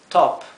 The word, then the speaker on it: top: Pot pop on aquí la o no se pronuncia top o o sea post top verdad la o es una o que tiende un poco a parecerse a una a verdad sería algo entre